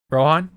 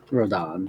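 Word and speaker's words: Rodin: Rohan? Rodan. Rodan. Right. Because yeah, it's the way it's spelled.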